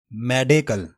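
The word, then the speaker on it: medical: मेडिकल, मेडी नहीं पढ़ना, मेडे पढ़ना है।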